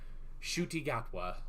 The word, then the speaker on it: Ncuti Gatwa: Ncuti Gatwa.